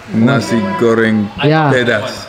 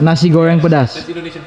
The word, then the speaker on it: nasi goreng pedas: Something like a how you pronounce this? Nasi goreng pedas. Nasi goreng pedas.